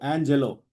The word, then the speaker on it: Angelo: வேறு for example ஆஞ்சலோங்கிற word நான் கொடுத்தேன்னா the second syllable sounds like jello, Angelo.